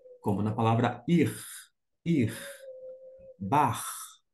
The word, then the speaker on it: Bach: na palavra ir ir bar a gente não fala Bach aquele famoso e músico bai você fala bar você usa esse som C alemão dito isto a gente